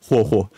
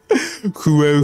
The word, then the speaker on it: HuoHuo: that can actually like say her name right, like HuoHuo. Because like everyone else is like, you know, like, don't say like Huehuo.